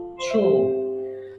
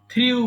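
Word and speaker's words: threw: আমরা ওটাকে ভুল করে থ্রিউ বলি মাঝখানেরটা। হ্যাঁ, এই যে দেখো আমি রেড মার্ক করে দিই, এটাকে কিন্তু থ্রিউ বলা যাবে না, এটার উচ্চারণ হবে থ্রু।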